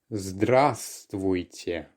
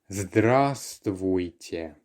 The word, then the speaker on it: Здравствуйте: It's Здравствуйте. Здравствуйте. Remember that the first letter V is silent. Здравствуйте.